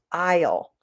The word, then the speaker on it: aisle: The first one is aisle. It's spelled really weirdly. Aisle.